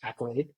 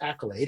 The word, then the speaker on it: AKYLADE: a d e but it's still pronounced Accolade and looks like Accolade when you look at it the reason we did